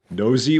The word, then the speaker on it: Nosy: Nosy, which rhymes with cozy.